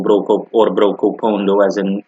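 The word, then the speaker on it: Brokopondo: Comwine district is a district in my country of residence, similar to the first example, Broken Ferry or Broco Pondo, as it's pronounced natively to the local inhabitants.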